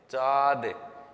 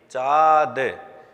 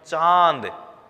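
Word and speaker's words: चाँद: यह चंद्रबिंदु होता है अगर यहां पर चंद्रबिंदु नहीं होता तो हम इसको चाय बोलते चाद इसको किस तरह साफ करता यह चांद लेकिन चंद्रभान को लगाने के बाद इसको बोलेंगे हम चांद एक सांड अलग से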